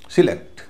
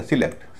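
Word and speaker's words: select: सिलेक्ट, सिलेक्ट verb है, दो syllable हैं, दो वॉवेल हैं, वर्ब है, तो यहाँ पर जो शुरू में जो SE है इसका उच्चारण हल्का होगा, उसे बुलाएगा सिलेक्ट। सेलेक्ट नहीं बुलाया जाएगा, सिलेक्ट बुलाया जाएगा।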